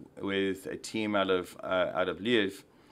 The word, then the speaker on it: Lviv: Or Lviv, I got to learn how to say it. I'll get my tongue right Lviv. At some point. Lviv. Lviv. Lviv. Yeah, L-V-I-V. Just think of it like Lviv.